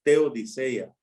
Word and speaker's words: teodicea: Teo Dios dicayo justicia ya junta la palabra es teodiseia te Odisea así se dice así se pronuncia así bueno así la